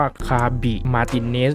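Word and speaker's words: Javi Martínez: แล้ว นะ ครับ ผม ชื่อ ของ เขา อ่าน ว่า ฆาบี มาร์ ติ เนซ ครับ ผม ซึ่ง ตรง กลาง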